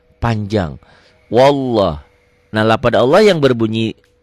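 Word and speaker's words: والله: tapi tetap dibacanya panjang wallah nah lafad Allah yang berbunyi seperti ini lafad Allah yang sebelumnya baris di atas seakan-akan ada w-nya wallah wallah jangan wallah wallah bismillah Iya lillah Iya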